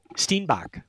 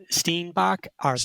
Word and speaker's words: steenbok: It's a mother cheetah chasing Is it pronounced a sten- stenbok? steenbok steenbok smallest and of species of the antelope species in Africa.